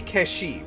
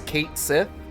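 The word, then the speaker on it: Cait Sith: it's supposed to be kesi right that's how it's supposed to be pronounced but like didn't they recently say that in ff7 rebirth it was going to be pronounced as Kate Sith so who can really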